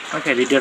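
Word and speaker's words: read: আমি পড়েছিলাম আই রেড রিড past হচ্ছে বানান একই কিন্তু উচ্চারণ হচ্ছে ভিন্ন আই রেড আমি লিখেছিলাম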